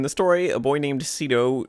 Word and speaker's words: Shido: story a boy named cido Shido I guess it's pronounced with an sh even though it doesn't have it in the title or in his name whatever is meet the